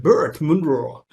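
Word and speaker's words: Burt Munro: called bert monroe right what new zealanders call it birth monroe well i am not with that kind of pronunciation so i'm just going to stick to my own which is typical indian pronunciation and that is burt monroe now when we talk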